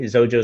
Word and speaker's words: Xojo: J is asking about iPad and yes absolutely zojo iOS support can create iPad apps as well